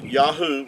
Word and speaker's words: Yahuah: get the yahoo pronunciation they're spelled with the the modern hebrew the three letters uh yahoo would give you the sound these three letters here the the yo yad and the hay and the ua would give you yahoo and uh even benjamin